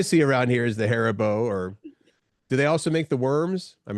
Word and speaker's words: Haribo: And to round things out, Dawn said, I think, how do you pronounce that? Haribo? Haribo, I think.